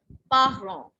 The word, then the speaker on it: parents: The pronunciation of parents in French is parents. Parents. It has the same spelling, but we pronounce it as parents.